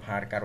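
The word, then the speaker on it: VARCHAR: তো নেমটা অ্যাকচুয়ালি আমি এখানে ভার্চার করে দিলাম। তো অনেকে আবার ভার্কার উচ্চারণ করে, যাই হোক এগুলো কোনো সমস্যা না, আপনাদের ইচ্ছা।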